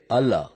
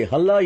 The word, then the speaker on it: Allah: பேசும்போது எழுத்து வராது, அதை ஹல்லா என்று எங்கள் மொழியில்தான் உச்சரிக்க வேண்டும். இது ஹல்லா அல்ல, அல்லாஹ் என்பதுதான். சரி சரி சரி சரி, அல்லாஹ் அல்லா இல்லை.